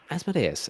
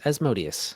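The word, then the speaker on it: Asmodeus: Do we say Asododeas or Esodius? Um, Asodus. As Modius, I've mostly heard as Modius, but uh you know, it's whatever your home group uses is the right pronunciation.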